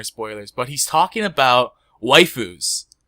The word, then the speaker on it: waifu: the joke it's because you'd say like waifu like that'd be how you how a japanese person would say wife but then you have